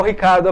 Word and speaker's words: Ricciardo: É Daniel Ricciardo a pronúncia. A origem italiana, a origem por isso.